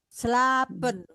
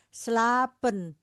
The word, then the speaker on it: slapen: Jadi pekannya mengerti kenapa di tulisnya dua bacanya panjang. Lopen slapen. Karena dia walaupun tidak ditulis di ya walaupun tidak ditulis di sini kita harus tahu rumus pembacanya lopen.